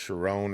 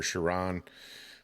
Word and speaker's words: Sheron: I think it's pronounced Sharon or Sharon.